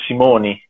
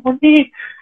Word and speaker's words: Simone: In più io ero Simoni perché la E si pronuncia I, quindi era anche difficile da capire quando si riferivano a me.